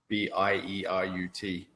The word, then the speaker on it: Bierut: It's spelled, it sounds like the city, but it's spelled Bierut.